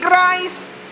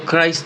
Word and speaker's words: Cris: First time yata gumamin si Christ Brian isang Filipino cont. Okay. So Christ pala. Akala ko Chris. So Christ pala yung bigkas sa pangalan niya.